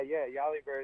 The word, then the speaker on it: Yali Bird: Yeah, Yali Bird is exactly how you say it.